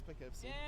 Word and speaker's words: Poughkeepsie: Poughkeepsie? Yeah, that's Poughkeepsie.